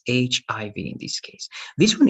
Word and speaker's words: HIV: of these words remember this is not going to be h e v right remember that you need to pronounce letter by letter so this is hiv right i hiv let's